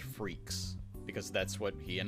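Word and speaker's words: Freecss: be German anyway also kind of fitting that it's pronounced freaks because that's what he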